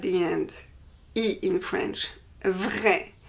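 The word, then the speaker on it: vraie: Vrai. For the feminine, we add an E, but the pronunciation doesn't change.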